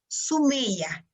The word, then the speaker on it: Somia: some as you as she wrote but the pronunciation is sumiya okay so we're gonna take a picture